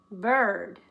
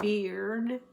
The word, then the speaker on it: bird: Don't put a sound for the I, otherwise you're going to get beard, like a man wears, or bear, the big animal. It's just bird. Don't say the I.